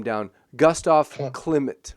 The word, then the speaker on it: Klimt: Klimt, right? Klimt?